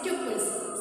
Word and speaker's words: tuple: So this one is called tuples. This is the representation of tuples. Okay, this one you can pronounce just like couple. Okay, couple, tuple. Clear?